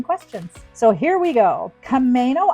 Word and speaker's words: Camano: Kamo Island and it's spelled like the car Kamo.